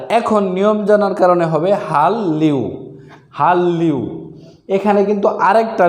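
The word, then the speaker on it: 한류: তাহলে উচ্চারণ হবে হাল্লিউ, তাহলে সঠিক উচ্চারণ হবে হাল্লিউ, হাল্লিউ।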